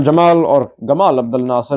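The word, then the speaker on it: Gamal Abdel Nasser: Colonel Jamal or Gamal Abdul Nasser depending on your pronunciation would form the Arab Republic of Egypt.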